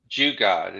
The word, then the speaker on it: jugaad: ingenious in many different ways and that's the jugaad is that did i pronounce that right exactly and that's that's actually